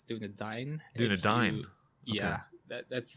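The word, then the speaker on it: Dúnedain: but it's doing Dane Doudna Dane people say doing a Dane but actually it's doing a dying dude I'm yeah that's how it's pronounced in the Lord of the Rings movies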